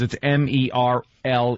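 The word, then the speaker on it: Merle: there is no way this is Merl because it's m e r l e it's Merl it's Merl about mer the name is Merl about merly no I I still say it's not Merl it's Merl she wears tight dungar and work boots her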